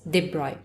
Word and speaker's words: de Broglie: ठीक है, इट is written as डी ब्रॉगली but pronounced as de Broglie.